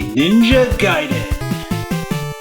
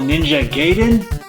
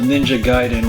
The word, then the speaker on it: Ninja Gaiden: played this game called Ninja Gayen?" Yes, that's how we pronounced it back in the day, Ninja Gayen. So, one of my first memories of Ninja Gaiden was going to the